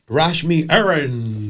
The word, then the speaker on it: Rashmi Airan: Rashmi Erin. Yes. Yes. I'm pronouncing the last name correctly.